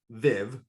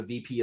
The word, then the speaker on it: Viv: get this going guys so v not viv okay for those of you who don't know who have never seen this before it's pronounced v then v comes from the latin where it means life or to come alive so vive means life